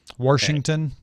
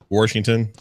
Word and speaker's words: Washington: Washington. Washington. I remember spelling Washington with an R, and my mom saying it's not spelled with an R.